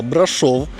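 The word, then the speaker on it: Brașov: Вітаю вас із міста брашов Дякую що виправили мене в коментарях що наголос треба ставити саме на букву о бо я колись вперше як почув неправильно назву брашов з наголосом на А так цього це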